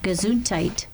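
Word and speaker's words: Gesundheit: And yet it's pronounced gazontite. The D is a T.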